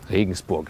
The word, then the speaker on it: Regensburg: Regensburg is the German pronunciation. Listen and repeat. Regensburg. It's like Rain Castle is the name of the city.